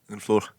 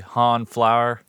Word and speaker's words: Honfleur: I had to look up the pronunciation because it looks like Honfleur to me. Honfleur. Obviously, it'd be an American, but it's Honfleur in Yeah, France.